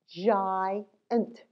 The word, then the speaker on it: giant: Giant. Giant. Did you guess giant? Yeah. All right. So that's when sometimes G is soft G.